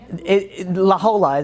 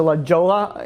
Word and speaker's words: La Jolla: Like the whole silent letters, I didn't really. It's L-A-J-O-L-L-A. J-O-L-L-A. But it's not silent. It's Spanish. It's Spanish, so it's yeah.